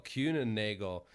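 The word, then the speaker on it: Kuehne + Nagel: to butcher this name so i'm going to spell it k-u-e-h-n-e and n-a-g-e-l cuna nagle um which is a swiss global transport and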